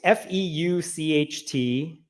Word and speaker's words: Feucht: Sean Feucht, F-E-U-C-H-T. It's pronounced Feucht, rhymes with exploit.